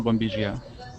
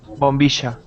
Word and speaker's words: bombilla: like bombilla and not bombilla? Well, yes, it's possible. Here in the south and the northwest, we pronounce it bombilla con sh, like the same sound as she.